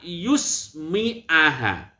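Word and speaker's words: يُسْمِعَ: Nah, sebagian ulama membacanya bukan yasma'a, tetapi wa an yusmi'aha. Ya-nya berharokat doma. Ini ya. Ya-nya berharokat doma dan mimnya berharokat kasrah. Mimnya berharokat kasrah. Itu kelihatannya sepele tapi konsekuensinya serius tuh.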